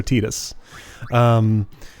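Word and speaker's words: Tidus: Alright, this is, depending on how you pronounce it, either Titus or Titus.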